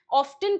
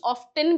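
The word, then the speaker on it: often: ऑफन का मतलब इसका प्रोनाउंसिएशन ऑफन भी होता है, ऑफेन भी होता है, टी साइलेंट भी होता है। दोनों सही है।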